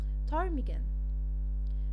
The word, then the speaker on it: ptarmigan: زي ما احنا شفنا هي دي كانت the silent p، وعرفنا امتى p بيبقى